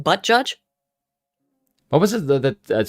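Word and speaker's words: Buttigieg: like excuse me spoon it's pronounced butt judge what was it that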